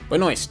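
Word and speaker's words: Benoist: Is it Melissa Bonest? Benest Benest. Melissa Benest. How the One moment. Melissa Bonoist. Bonoist. That's how you say it.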